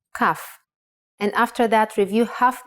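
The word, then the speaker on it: כף: Kaf actually is only pronounced like K when it has a dot inside. Just like Bet only has the B sound when it has this dot. Without the dot, it sounds like ch, chaf.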